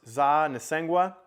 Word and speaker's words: Tsaa Nesunkwa: in telling you that this dispensary is pronounced za nissengua and that means feel good in the Shoshone language she shared that with